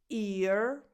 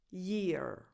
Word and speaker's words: year: So these two words are pronounced differently. This is ear, ear. This is year, year.